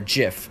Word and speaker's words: gif: timeless panorama a jiff I call the gif I think's pronounced jiff to anything so I